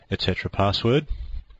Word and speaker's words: /etc/passwd: slash p a sswd that's usually pronounced etc password for obvious reasons now if you have